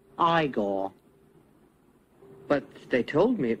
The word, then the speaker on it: Igor: they did do an igor figure no it's pronounced igor but they told me it was eagle well they were wrong then weren't they but